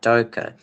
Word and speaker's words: Doka: Doka, like like a docker, but Doka.